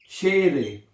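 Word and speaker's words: Schere: नाउ क्या बनेगा शेर ई को ए पढ़ते हैं जर्मन जुबान में ई को जब ये स्टूडेंट बड़ा गलत पढ़ते हैं इसलिए मैं बार-बार लिखता हूं ई को आपने ए पढ़ना है क्या पढ़ना है ए ई को आपने ए पढ़ना है तो क्या बनेगा शेर शेरे और आई को ई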